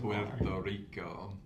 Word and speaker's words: Puerto Rico: You've told us about Pto Rico. The way you rolled that R at the beginning there. That's the official way to pronounce it. Puerto Rico.